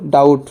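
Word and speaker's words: doubt: পরে ডাউট উচ্চারণ করবা বহুত বলা উচ্চারণ ভুল উচ্চারণ হল ডাউট বির পিছ কি আছে বি লেটারের পিছ আছে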